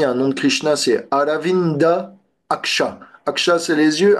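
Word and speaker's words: অরবিন্দ: dire le lotus robindo parce que les a dans dans le bengali sont prononcés o les V sont prononcés comme des B et les S sont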